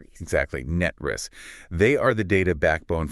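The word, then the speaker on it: NTREIS: Net Reese, like Net and then a snake's hiss ris. Net Re. Exactly. Net Riss.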